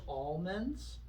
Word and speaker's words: almonds: There's almonds. Do you pronounce the L?